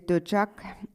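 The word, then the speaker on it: འདོད་ཆགས: And this term attachment, in Tibetan it is döchak, so 2 syllables, dö and chak.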